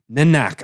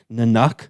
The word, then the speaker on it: Nanak: guru and an activity nanak i need to get that right because because someone had me pronouncing it nanak for a while and it's nanak right asked one of his